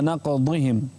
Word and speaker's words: نقضهم: نقضهم ميثاقهم وكفرهم بايات انتبه للضاد انتبه للضاد فبما نقضهم نعم لا تنطقها د نعم فبنا نقضهم ميثاقهم